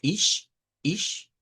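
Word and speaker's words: ich: De ahí, el Deutsch utiliza este sonido que cuando lo escuchemos, vamos a ver que es como una combinación, algo entre la CH y la SH, como sha, sha. Lo vamos a usar mucho para decir el yo, por ejemplo, en idioma Deutsch, que decimos ish. Ahí vamos a utilizar este sonido.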